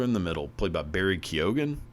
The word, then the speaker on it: Barry Keoghan: Basically it's the story of the fella in the middle, played by Barry Keoghan, I believe is the pronunciation. He's Irish, so who gives a shit? But I believe it's Barry Keoghan.